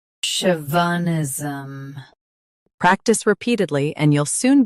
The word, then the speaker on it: chauvinism: Stress show. Keep v soft and finish with nism smoothly. Chauvinism.